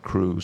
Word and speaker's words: Krewe: They used the word Krewe, spelled with a K, to make it look old English.